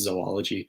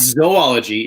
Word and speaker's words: zoology: So it's zoology, it's Z-O-O-L-O. So it's if it was zoology, there would be an extra O. So this is where I get very picky when people pronounce it zoology, because it's not zoology. If it was zoology, there would be 3 O's in the beginning. It's 2 O's.